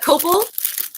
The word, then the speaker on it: copal: I don't know if it would be on your top 5, but I've got copal. I've got copal, which is the tree that is offered. Okay. So copal, it's spelled COPAL.